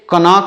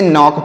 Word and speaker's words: knock: KNOCK, तो इसे कनॉक आपको नहीं पढ़ना है, इसे नॉक पढ़ना है। क्या पढ़ना है प्यारे बच्चों? नॉक है। इसे कनॉक नहीं नॉक पढ़ेंगे।